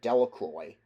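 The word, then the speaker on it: Delacroix: The villagers pronounced this name Delroy.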